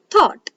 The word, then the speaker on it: thought: are silent so here when o u g h t come together the sound the u g h are silent so we'll pronounce it has thought one more example fort